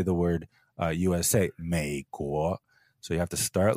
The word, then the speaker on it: 美国: By far, the most common way to mispronounce it is up and down, 美国, instead of 美国. I call this the 3-2 tone swap.